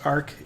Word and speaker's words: aerc: Tell us what is it Arc is, and why did you decide to develop software like this? Yeah, it's pronounced Arc.